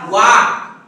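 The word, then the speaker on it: walk: यल के बाद तुरंत अगर के आता है, यल साइलेंट होता है।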